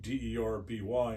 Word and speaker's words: Derby: They started in Derby, which is spelled Derby, D-E-R-B-Y in England. They call it Derby.